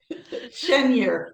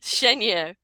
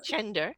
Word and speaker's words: Chenger: Sarat Troy and my wonderful guest is Lori pronounce it shener shener it looks like shender shener but it's it's Hungarian name which is